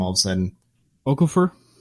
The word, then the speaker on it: Okorafor: And then, of course, Atachu as well, getting himself against Okorafor, or I can't remember how to say his name all of a sudden. Okafor? Okorafor, yeah.